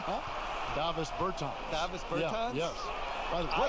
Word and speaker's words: Davis Bertans: Oh, well now, at this point in my life, it's Davis Bertans. Is that how you say his name? Yeah. Davis Bertans.